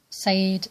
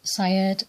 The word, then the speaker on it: Sayyid: or yes, Azza Al-Sayyid, and there's more than one way of pronouncing that title, that surname. Sayyid, Syed, Sayyid, Said, Sayyid. These are all really pronunciations of the same word, Sayyid, Al-Sayyid, whether you put Al in front or not.